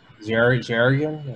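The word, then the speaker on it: xaringan: that I'm planning on using when I, but I have never used, I always try to pronounce this, Xerion? Xerion. Xerion?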